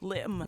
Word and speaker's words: limb: Now, B is an interesting silent letter. Numb. Because, Limb. yes, and often after M's, right?